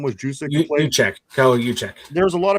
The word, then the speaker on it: Juszczyk: He reminds you, how do you pronounce guy? Who was Kyle Juszczyk? I think his name was Juszczyk.